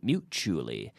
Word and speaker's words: mutually: And good pronunciation. Chew. Mutually. It's like Portugal. Mixture. Mature. Right?